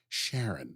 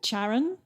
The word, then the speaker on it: Charon: It's a hard C. I wrote that down, but I've always pronounced that Sharon. Let's go with Charon, because Sharon to me just sort of sounds like someone you know down the pub.